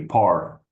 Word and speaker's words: Par: Par. Just like Just like golf.